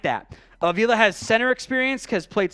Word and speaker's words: Avila: Tyler Smith and Steve I might have mispronounced your Avila so it's a long a at the front ovula at left guard I'll